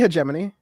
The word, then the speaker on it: hegemony: is it did what the hell it's definitely hegemony but it's definitely hegemony but hemony iser uh